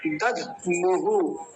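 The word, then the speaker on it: दध्मुः: शंखान दध मुहु, दध मुहु, दध मुहु ऐसा। तो पूरा शब्द क्या बन जाएगा? शंखान दधमुहु, शंखान दधमुहु। थोड़ा अजीब सा शब्द है लेकिन ऐसे ही उच्चारण होगा जैसे बताया है।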